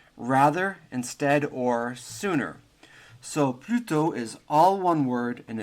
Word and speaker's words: plutôt: So plutôt is all one word, and it's spelt in French P-L-U-T-O, accent circonflexe, T.